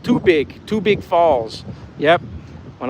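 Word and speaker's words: tubig: Um, Debb says, "Tagalog word for water is pronounced too big.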